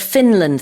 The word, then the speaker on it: Finland: However, in English, when there's a n followed by a l, you have to pronounce both uh both of those consonants.